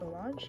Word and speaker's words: homage: Omage.